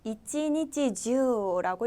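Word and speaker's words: 一日中: 돼요 그럼 한번 보실게요 하루 종일 하루 내 내라고 할 때는 주를 사용해서 이찌니찌 주라고 읽어 주시면 되겠고요이라는 중 내가 지금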